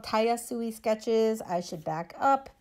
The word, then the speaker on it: Tayasui: It's called Tayasui Sketches.